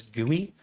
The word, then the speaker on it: GUI: We pronounce that as gooey.